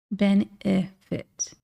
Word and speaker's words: benefit: Benefit only has one I, but if you listen closely, that second E is pronounced very similarly to the ending I. Benefit.